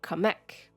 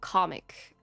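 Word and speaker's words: Qamek: It's always been pronounced Kamek, but in Veilguard the characters keep saying comic, and it just really annoyed me.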